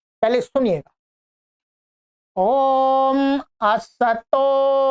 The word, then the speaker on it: असतो: लोग मैंने सुना है उच्चारण करते अस्तो अस्तो अस्तो स को आधा कर देते हैं अस्तो मा स गाय तो असतो नहीं है ये क्या है असतो स में अ है असतो अब आइएगा इसको तीन पार्ट हमने कर लिए।